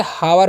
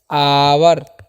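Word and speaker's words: hour: तो हावर नहीं इसको क्या पढ़ना है? आवर। ठीक है? क्या पढ़ना है? आवर। जिसका मतलब क्या होता है? घंटा। तो, यह आपको याद रखना है। ठीक है? इसे हावर नहीं क्या पढ़ना है? आवर पढ़ना है। ठीक है? यहां पर जो है ना एच साइलेंट होता है।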